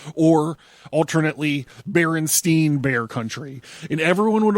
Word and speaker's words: Berenstain: However, the book in this time stream are the Berenstain. Back to the website. I should have said A, not E, in the last syllable.